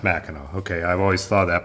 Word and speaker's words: Mackinac: It's pronounced Mackinac, right? You don't pronounce the C.